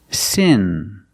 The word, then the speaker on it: sin: In sin, we use the short I sound. It's more open, I, like this is, I, sin. And seen, we use the long E sound, like green beans. Seen, but with the same N sound in both words.